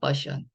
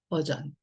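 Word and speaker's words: version: 버션. 근데 이 단어는 버션이 아니라 버전이에요. 버전.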